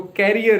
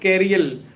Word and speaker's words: carrier: So carrier it's not carial or or just you